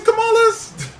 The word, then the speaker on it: Kamala: might have a female president uh whose name is spelled the same way as Kamala but her version is is camela yeah so